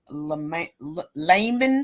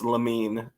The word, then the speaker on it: Lamin: and that's representative uh Layman Swan I got it right this time no limits it's lamin lamine salon oh so I was